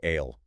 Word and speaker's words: I'll: Right, like I'll. Isn't I will said fast? It's more like ale.